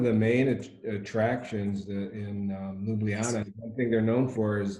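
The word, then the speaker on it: Ljubljana: it's actually more like a y so it's pronounced Luana sounds much prettier huh that's pretty I want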